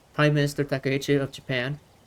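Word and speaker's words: 高市: I want to talk about this because Japan's prime minister said, let me say her name right, Minister Takichi, Takayichi, Prime Minister Takiche of Japan said right here in this statement,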